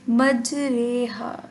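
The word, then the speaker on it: مجراها: میں مجریہا، ٹھیک ہے۔ اس کا تلفظ جو ہے اس طرح سے ہے کہ اردو لفظ کے قطرے کی را کی طرح ہے۔ بیسیکلی را نہیں پڑھیں گے، اس کو رے پڑھیں گے، مجریہا۔ اور مجریہا اس کو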